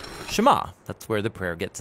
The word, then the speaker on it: Shema: Now the first word of the Shema is hear or listen, which in Hebrew is pronounced Shema.